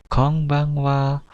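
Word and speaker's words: こんばんは: Bacanya adalah salamnya konbanwa. Saya ulangi lagi, konbanwa. Nah, N di sini agak sedikit bunyi eng, jadi konbanwa.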